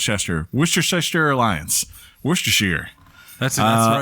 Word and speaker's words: Worcestershire: go that lets Chester what's your shyster alliance Worcestershire that's all right way to say it yeah